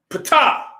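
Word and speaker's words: Ptah: comes from it now pata is a vulture a arm a leg and folded cloth right it's spelled p t a h in greek four symbols correct but the p silent so does that mean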